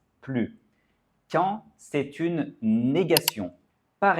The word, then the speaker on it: plus: i est une voyelle, nous devons faire une liaison.